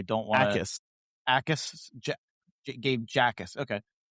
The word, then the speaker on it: Jackus: Gabe Jackus. Okay. I think the J is silent. Oh, the J is silent. I think it's Ackus.